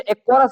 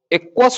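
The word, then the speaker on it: aqueous: नेत्रोध या द्रव्य को इंग्लिश में एक्वरस ह्यूमरस बोलते हैं। क्या बोलते हैं बाबू? एक्वरस ह्यूमरस। एक्वरस एक्वरस की स्पेलिंग क्या होगी बाबू? एक्वस होता है।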